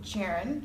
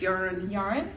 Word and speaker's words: Jahren: Next month's book, we're going to be reading Lab Girl by Hope Jahren? [questioning pronunciation] - I think it's "yar-en." I think she's Swedish, Scandinavian so the J is usually like Y.